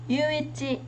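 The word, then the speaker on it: 唯一: Đầu tiên từ này đọc là gì ạ? Yuichi nhé.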